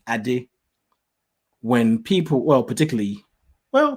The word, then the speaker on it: Ade: have to be african if i tell them the right pronunciation adi they just suddenly go into character i did i'm like calm down calm down you know no take a breath and just say it's it's not that